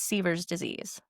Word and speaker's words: Sever's disease: in gymnastics, especially with younger athletes, and that's Sever's disease.